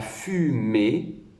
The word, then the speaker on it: fumée: Commence sur le point et accroche la dernière syllabe à la dernière lettre qui est une lettre muette que l'on n'entend pas.